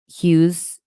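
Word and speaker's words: Howes: There's another podcast with Joe Dispenza and Lewis uh, Hughes. Is that how you say his name? Yes, I know what you're talking about.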